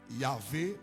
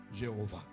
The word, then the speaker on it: Yahvé: nous pour qui ça non incertaine numéro 2 Yahvé ou Jéhovah Oh alléluia !